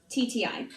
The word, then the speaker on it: Rapetti: Italian, and it's spelled Rapetti. My last name sounds like a pasta dish that always gets pushed on you, but no one really wants it. You're like, hold the sausage. I said, no. Rapetti, that's my name.